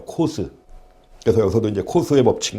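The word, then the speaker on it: Coase: 여튼 원래 이제 그 시카고 대학에서 시카고 대학 교수였던 분인데, 그 시카고 대학에서 공부한 그 선생님들한테 물어보면 시카고 대학에서 이제 코스라고 읽는데요. 코스.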